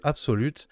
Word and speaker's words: ABXYlute: puissiez bien voir le logo absolut ça se prononce absolue ici avec les petites